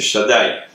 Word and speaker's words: Shaddai: Le nom Shakai, je vais le prononcer pour ceux qui ne savent pas, c'est Shaddai.